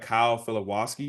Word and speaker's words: Filipowski: but I also had Kyle Filipowski. Is that how you say his name? Yeah. I think it's From Philip. I think Duke? there's more emphasis on the P, but The that sounds P, right.